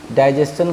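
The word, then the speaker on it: digestion: गौर से देख लीजिए आप इसको, डाइजेशन का मतलब होता है पाचन। यहाँ भी देखिए एस और आई यू एन के बीच में जो टी था उसका उच्चारण चौ हो रहा है।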